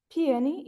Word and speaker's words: peony: Peony is how it is pronounced.